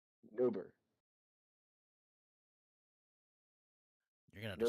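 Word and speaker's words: Nobir: Newert. You're gonna have to spell that for me.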